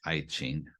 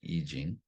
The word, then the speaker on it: I Ching: It looks like I Ching, but it's pronounced I Ching.